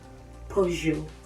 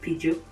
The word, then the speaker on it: Peugeot: It is pronounced as Peugeot. Peugeot, not Peugeot.